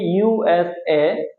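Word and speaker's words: USA: এখানে কিন্তু আমরা প্রত্যেকটা বর্ণ অথবা প্রত্যেকটা শব্দ কিন্তু আলাদা আলাদা করে উচ্চারণ করতেছি। ইউএসএ, প্রত্যেকটা অক্ষর আমরা এখানে আলাদা আলাদা উচ্চারণ করতেছি। যদি আলাদা আলাদা উচ্চারণ করি তাহলে এটাকে বলা হবে অ্যাব্রিভিয়েশন।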